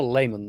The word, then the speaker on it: Lehman: I mean, it's not spelled like a lemon, but it's, Lemon. How is it spelled? Lehman. It's more layman than Layman?